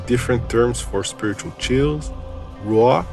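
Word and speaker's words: רוח: If we take a look at one of the different terms for spiritual chills, ruah, pronounced in Hebrew ruach, it is the Hebrew word translated as Spirit of God.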